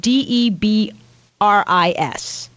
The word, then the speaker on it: debris: uh Chad's father-in-law has trouble with the word d EB r i s debris yeah what have you heard people say